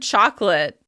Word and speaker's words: chocolate: It's the word chocolate. If you speak a Romance language, you're probably used to saying this word with 4 syllables. However, in American English, it's just 2 syllables.